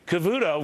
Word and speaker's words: Cavuto: fat Joan and bxy Cavuto rhymes with zero no it doesn't joh Cavuto zero it